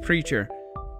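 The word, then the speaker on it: PRCHR: P-R-C-H-R. Pronounced Preacher.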